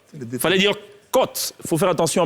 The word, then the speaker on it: côte: Par abus et par erreur, beaucoup de gens pensent que quand il y a l'accent circonflexe, il faut prononcer O. Non, c'est O. La preuve, on dit à l'hôtel, à l'hôpital et non à l'hôpital ou à l'hôtel.